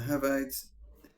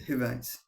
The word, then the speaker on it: Hivites: the Perisites and the Habites. Hivites and the Jebisites, not the Habites, the Hivites. I pronounced that wrong.